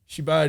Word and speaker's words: Shibal: Shibal is Korean for like fuck shit.